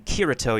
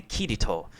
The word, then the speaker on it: Kirito: Like, an example in, I forgot which show was it, instead of saying Kirito, you say Kirito.